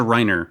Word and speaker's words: Reiner: okay we also have Rainer or Reiner it's pronounced a Reiner right in the American dub in the US dub um again very nice